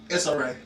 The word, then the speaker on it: Issa Rae: Issa Rae.